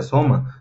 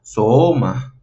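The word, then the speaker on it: σῶμα: Por lo tanto, nuestro sonido de esta palabra sin el circunflejo sería soma. Pero como hay un circunflejo, no se pronunciaría soma, se pronunciaría soma. Si se fijan, hay una depreciación en la segunda, bueno, en la misma parte. Es un poco complicado generar ese sonido, pero esa es la función del circunflejo.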